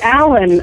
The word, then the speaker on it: Allyn: by uh getting uh the pronunciation of my name it is Allan like a man it's really funny I